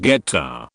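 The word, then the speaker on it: goetta: Grandma's homemade gota, pronounced geta, recipe was found on the side of the Quaker Oats box.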